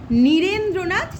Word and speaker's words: নীরেন্দ্রনাথ: যেখানে যেখানে দীর্ঘই থাকবে সেখানে উচ্চারণটা আরও গভীরভাবে করবে। কীরকম? নীরেন্দ্রনাথ চক্রবর্তী, কারণ নয় দীর্ঘই আছে, তাই তো?